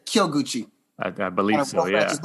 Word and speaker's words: Kyoguchi: Yeah, you say it real quick, the Kyo. I think it's Kyoguchi. The same character, the city Kyoto? Right. There's a city called Kyoto.